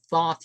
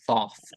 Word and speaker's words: Thoth: in its Authority but Thoth you don't pronounce it as thought of them ancient Egyptian that's to hold the you know um I I did a video on Thoth uh alt-right bird I